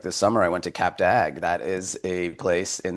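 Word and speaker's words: Cap d'Agde: But also, you know, some of these places, like this summer, I went to Cap Dag. That is a place in the south of France, Cap Dag. It's spelled D uh Cap C A P D apostrophe a GD.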